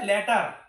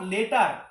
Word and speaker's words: latter: ল্যাটার, নট লেটার, ল্যাটার। তোমাদের কিন্তু সঠিকভাবে প্রোনাউন্সিয়েশন করতে হবে। এটাকে আমরা ল্যাটার বলবো, লেটার বলবো না।